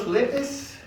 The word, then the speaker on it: Sudetes: Renania, la región de los Sudetes, esa es la pronunciación, y Austria.